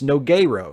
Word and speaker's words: Nogueira: It's Nogueira for the pronunciation.